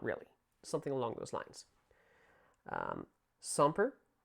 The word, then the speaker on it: semper: Semper, that's how you pronounce this word. S-E, that wasn't a very good S, so I'll give you a better one here. But S-E-M-P-R, semper, meaning always or continuing.